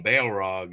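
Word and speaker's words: Balrog: person in white this time uh and that's that's spelled b a e l r o it's got Bail right in the name Bale Rog and it near it nearly killed the party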